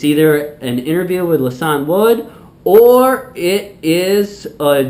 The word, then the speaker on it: Lisan: So joining me now is Milwaukee comedian Lisan Wood. Hello. Did I say it right? No. It's Lisan.